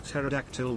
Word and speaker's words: pterodactyl: Alias underscore cheered X100 why can't you hear a pterodactyl going to the bathroom because the p is silent l o l ball